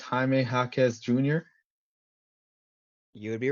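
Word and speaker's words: Jaime Jaquez: are both Jay so if you pronounce it in English it'd be Jamie but because he's of of Latino descent it is Hy hwz Jr ammy hakz Jr um but it's something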